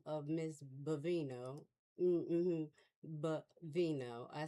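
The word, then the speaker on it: Bovino: Bavino.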